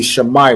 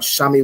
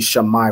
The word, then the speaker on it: Shammai: So it'd be Shammai one, right? Wherever you see the letter I, you want to pronounce it as I, right? It's not Shami one or anything else. It'd be Shammai one, right?